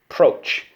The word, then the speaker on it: approach: Approach. Okay? We use the O like in boat.